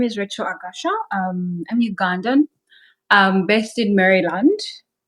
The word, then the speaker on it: Agasha: How do you pronounce it? It's Agasha. Agasha and Agasha.